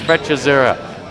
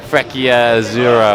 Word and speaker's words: Freccia: club is named after it's pronounced frur not freur or whatever people are trying to say anyway uh nice break